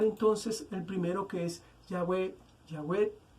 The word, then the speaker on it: Yahweh: Como el tetragramatón hebreo se pronuncia Yahweh, de allí que para